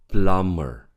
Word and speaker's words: plumber: plumber. Plumber. So the B is silent.